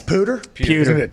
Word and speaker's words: pewter: of respect for them i apologize for pronouncing p-e-w-d-e-r report wrong i believe it's the color of the gray that's pooter t-p-w-t-e-r yes i thought it was d they may stylistically you